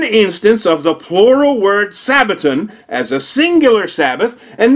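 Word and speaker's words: σαββάτων: the Greek plural word for Sabbath and it's pronounced Sabaton so the first thing you need to ask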